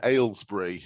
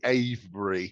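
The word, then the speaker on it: Avebury: I you did yeah you said Alsbury it's actually a briy oh okay ay is quite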